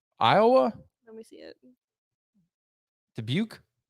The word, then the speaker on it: Dubuque: let me see it dubuque it looks like dabouk dubuque iowa nitro tour